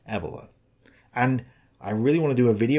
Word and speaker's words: Evola: looking at Nietzsche and Julius Evola, which is apparently pronounced Evola.